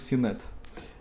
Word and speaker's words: Синет: Правильно говорить Синет.